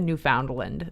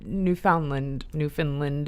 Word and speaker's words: Newfoundland: She said Newfoundland, but Newfoundland is like the right way to say it or whatever.